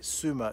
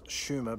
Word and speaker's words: Sumer: no prehistory to it we call it incorrectly suma today correctly it's schumer but everyone calls it